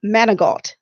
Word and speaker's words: Manigault: a few more moments, Monique Manigault. Did I pronounce it correctly? Perfecto. Oh, wonderful, Perfecto. wonderful. Let me give you a little bit of information about Miss Manigault.